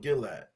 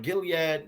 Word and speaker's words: Gilead: onto the Elders of gillad am I saying it right Gilead gillad which one Gilead I'm Gilead yeah Gilead and JEA said onto